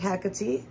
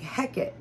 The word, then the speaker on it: Hecate: with hackity um so first pronouncing her name right is a very simple one um I know when people just look at it they might think heck it or Hecate um but the right way there's two right ways